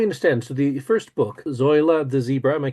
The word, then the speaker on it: Zoila: So the first book, Zoila the Zebra, am I pronouncing that Yes, correctly? yes, Zoila the zebra.